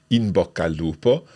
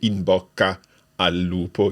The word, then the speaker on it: in bocca al lupo: And you run it all together like that. Can you give us the pronunciation of this? So you don't really say, "in bocca al lupo". You run it together.